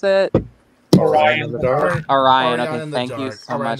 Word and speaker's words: Orion: How do you pronounce it? Orion in the Dark. Orion, okay, thank you so much.